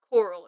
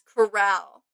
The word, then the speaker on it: corral: Um, I think it's corral. Actually, it's not coral. It's corral, right?